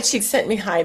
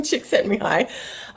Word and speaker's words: Csikszentmihalyi: Flow, The Psychology of Optimal Experience by Mihaly Csikszentmihalyi. That's how I pronounce it. I know Brett calls him Mike, but I just can't do it. So I'm going to call him Csikszentmihalyi.